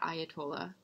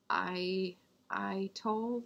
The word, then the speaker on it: atoll: So Tuvalu is one of these low-lying, not Ayatollah, I-toll.